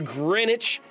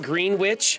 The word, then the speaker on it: Greenwich: Pole and runs through Greenwich England did you notice I didn't pronounce it green witch I wanted to but